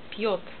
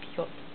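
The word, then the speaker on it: Пьёт: Zum Beispiel Wort Piot. Sehen Sie, nach P kommt milde Zeichen. So. Dabei P wird mild. Buchstabe J danach verursacht J mit O. Betonung nur auf erste Silbe, einzelne Silbe. Piot. Ne?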